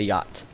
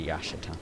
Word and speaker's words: yacht: you want to look a yacht not a Yash if you would pronounce all the letters in there that's what it was called